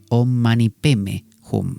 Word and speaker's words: Om Mani Padme Hum: O el famoso mantra, el Om Mani Padme Hum, ¿no? Om Mani Padme Hum, que los tibetanos lo pronuncian Om Mani Peme Hum, ¿no?